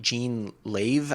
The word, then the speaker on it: Jean Lave: all of the, um, I think Jean Lave, I think is how you say her name, j e a n l a v e.